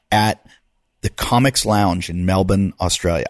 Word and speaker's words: Melbourne: I'll be in Melbourne, Australia, the 19th, 21st, 22nd at the Comics Lounge in Melbourne, Australia. I say Melbourne, you might say Melbourne, but anybody in Australia knows I say it right.